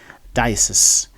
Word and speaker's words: diocese: If you are from the French background, you might find it a bit misleading, because in French, that portion is pronounced with a little length. That's says, diocese. So you might be tempted to transfer the French length to the English, which is totally wrong. In English, this word is actually pronounced as diocese. Diocese.